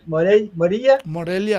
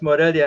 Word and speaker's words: Morelia: Morelia? Morelia.